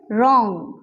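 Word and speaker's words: wrong: Next हमारे पास word है रॉन्ग, रॉन्ग, रॉन्ग, जिसमें W हमारे पास जो है वो साइलेंट है।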